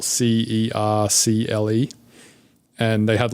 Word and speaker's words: Cercle: So for an example, there's this company called Circle, and they have a YouTube channel, and it's spelled Cercle.